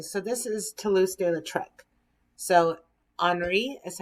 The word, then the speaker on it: Henri: So Henri is how you say his name, de Toulouse-Lautrec.